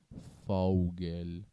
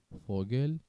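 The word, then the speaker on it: Vogel: حرف فاو به صورت ف تلفظ میشه، پس نمیگیم فاوگل، فاو اربوتن، فاو ارگسن. ف دقیقا ف. فوگل، فربوتن، فرگسن.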